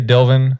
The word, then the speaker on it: Dylvn: your name again dylan so it's pronounced dylan some people say dilvan okay i thought it